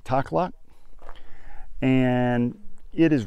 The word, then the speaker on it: Takhlakh: And I believe you pronounce this place, the lake is Lake Takhlakh.